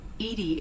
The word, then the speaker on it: EDI: why are you named edie edie is the phonetic pronunciation of edi that is an acronym for enhanced defense intelligence all right where are